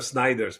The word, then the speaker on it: Snyders: Um Sn some people are Sniders, but I think he's Sners.